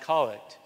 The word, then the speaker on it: Collect: c the collect prayer it's spelled collect but it's pronounced colic so theic prayer is